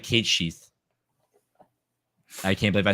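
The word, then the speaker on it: Cait Sith: say it it's cat it's not it's cat catsy or something like that it's actually yeah k no it's like Kate sheath I can't believe I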